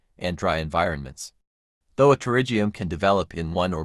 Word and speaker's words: Pterygium: What is a pterygium? A pterygium, pronounced Pterygium, is a benign, non-cancerous growth of